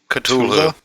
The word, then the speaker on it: Cthulhu: Thul, pronounced by Norse Germanics like Cthulhu.